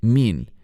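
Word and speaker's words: מין: Esta palabra se escribe mem, yud, nun, sofit, min.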